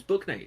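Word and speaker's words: Bouknight: so sred path but yes no J James book Knight is a real human being in the NBA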